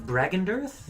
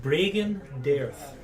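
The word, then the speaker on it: Bregan D'aerthe: Bragendirth? Bragen Dareth. How do you spell that?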